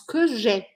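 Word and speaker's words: que j'aie: ça que j'ai aie mais je prononce que j'ai que j'ai c'est une erreur très commune à l'écrit que j'ai que tu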